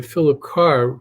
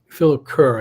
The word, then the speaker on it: Philip Kerr: a book by by philip carr who philip kerr i keep mispronouncing it philip kerr who creates a character